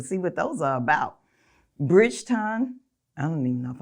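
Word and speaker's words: Bridgerton: Bridgeton. I don't even know if I'm saying that right. Bridgeton.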